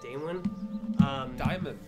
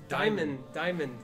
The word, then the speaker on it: Diamond: Damon. Diamond, like a diamond.